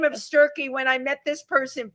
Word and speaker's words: Sturkey: a last name of Stury. When I met this person five I think it was five years ago. It's been a while. Said to me rhymes with turkey.